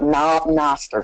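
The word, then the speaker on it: Knob Noster: We went to a high school in a small town called Noster, spelled with a K.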